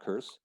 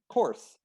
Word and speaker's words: course: what they've been told no that's wrong not curse course lesson done complete go